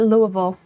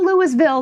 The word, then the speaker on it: Louisville: People native actually pronounce it Louisville. But yeah. It's not Louisville, though.